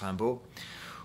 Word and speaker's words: Rimbaud: french culture the first being that of uh rambu the the great poet arturo rambo spelled rimbaud okay r-i-n-b-a-u-d pronounced rambo who once said which is a way of